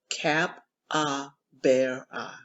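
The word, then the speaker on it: capybara: story and a cap she pronounced the word slowly just the way her aunt told her cap ah bear eye it's like a guinea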